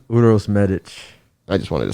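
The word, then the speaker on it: Uroš Medić: here coming up on march 6 against uh euros magic how do you say his name uros medic i just wanted to say that you'll see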